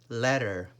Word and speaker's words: letter: The T's here, we do not pronounce the letter T. We say letter, letter.